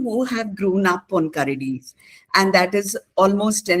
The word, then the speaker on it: Karadi: And I also just realized that I was pronouncing Karadi wrong. That's what It's not, we all do it, I think. I have heard it I as think Karadi all the everybody, time. yeah, everybody north of the Vindhyas pronounce it Yes. Yeah, I as think we see Karadi. the English. Yeah, we Yeah, see the English word and we say karadi, and yeah. it's karadi.